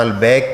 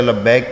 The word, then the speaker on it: لبیک: جاتی ہے لوگوں کی، یہاں البیک کی طرف ذہن اتنا ہوتا ہے کہ لبیک کی بجائے البیک کہتے ہیں۔ تو لہٰذا اس فکرے